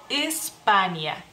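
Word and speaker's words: Ispanija: dejaré en la pantalla Cómo se escribe se dice espania espania España y bueno seguimos voy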